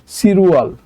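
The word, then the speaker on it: 칠월: বাচ্চিম আছে ঠিক আছে তাহলে রুলস অনুযায়ী বাচ্চিম থাকলে বাচ্চিম চলে যাবে ইয়ং এর জায়গায় ওকে তাহলে বাচ্চিম যদি ইয়ং এর জায়গায় চলে যায় তাহলে উচ্চারণ হবে সিরুয়াল সিরুয়াল মানে হচ্ছে জুলাই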